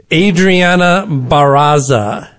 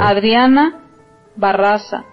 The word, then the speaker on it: Adriana Barraza: Adriana Barraza. Okay. She rolled the R's twice.